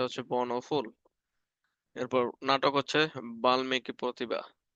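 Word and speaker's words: বাল্মীকি: বর্ণফুল এরপর নাটক হচ্ছে বাল্মিকি প্রতিভা উচ্চারণটা একচুয়ালি বাল্লী হবে ঠিক আছে কারণ ল সাথে ম আছে তার মানে ডাবল উচ্চারণ উচ্চারণ যখন পড়াবো তখন এটা শিখবা বাল্লিকি প্রতিভা আপাতত বাল্মিকি পড়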